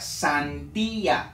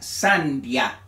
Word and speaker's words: sandía: tilde hace la diferencia Entonces se pronuncia sandía no se pronuncia sandia si se pronunciaría sandia en ese caso estuviera pronunciando como diptongo aquí hago diferencia de